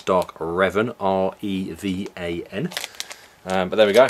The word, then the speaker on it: Revan: Didn't realise I was doing it because I know it's Dark Revan, R-E-V-A-N.